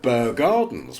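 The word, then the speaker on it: Bear Gardens: Well, you still have Burr Gardens, which is the Burr. B-E-A-R, Bear.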